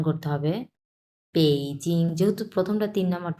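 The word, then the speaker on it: 北京: বাট এটার উচ্চারণ হচ্ছে ব না। এটার উচ্চারণ হচ্ছে প। সো এটা হবে বেইজিং। আমি কিন্তু প উচ্চারণ করছি। আর ইংলিশে যদি আপনি উচ্চারণ করেন তাহলে ব উচ্চারণ হবে। বেইজিং।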